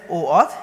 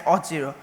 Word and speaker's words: OAuth: And also OAuth is pronounced as I said, OAuth, and it's not same as Auth0.